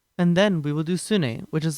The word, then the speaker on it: Sune: will be using an algorithm called sune pronounced sun e it's a swedish name now there are many